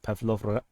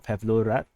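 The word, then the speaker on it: Павлоград: So I can confirm that the Russian forces have attacked the railway station at Pavlovgrad or Pavlograd, depending on which pronunciation you prefer.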